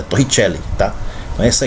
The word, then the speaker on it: Torricelli: Mas como o cara é italiano, né? É Evangelista Torricelli. Italiano, então você tem que pronunciar italiano, é Torricelli, tá?